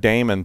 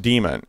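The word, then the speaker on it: daemon: apologize for for for pranking everybody with that Damon thing last week because because it is pronounced demon and and I was sort of doing an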